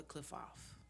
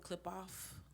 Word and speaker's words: Qlippoth: Uh, some people call it clip off, some people call it cliff off. Um, and it's spelled uh qui, no, yeah, ql, I'm sorry, q l i p h o t.